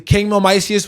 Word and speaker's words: Kingmil Miceus: Nobody knows how to say it or spell it. Yeah. But it's Kingmil Miceus, literally everywhere.